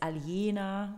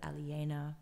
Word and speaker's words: Aliena: a lot easier and in german it's aliena which so it's a little bit different but aliena but no one ever